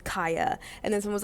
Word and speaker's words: Khia: the I learned that Kia is actually pronounced Kaya. So it's not like Kia the car.